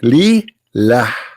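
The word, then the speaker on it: لله: The first one pronounced as Allah. The second one it says Lillah.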